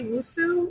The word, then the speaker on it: Nwosu: I'm Wusu, and it's a silent letter. So Wusu is NWOSU.